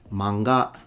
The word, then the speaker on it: manga: It's manga because it's heiban pattern.